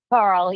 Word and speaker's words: Carle: Your last name is pronounced Carl, right? Carl. Yes.